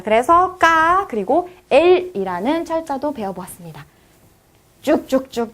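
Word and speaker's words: к: 까라고 읽습니다. 까. 키역처럼 영어에서 키역처럼 발음이 나는 게 아니라 여기서는 그 된 소리가 나요. 까라고 읽어주시고 마치 쌍기역에 가까운 발음이 나겠죠?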